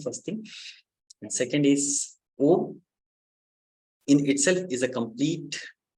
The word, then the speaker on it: Om: And O is, when you break down O into different syllables, it becomes A, U, and it's a combination of A, U, and Ma.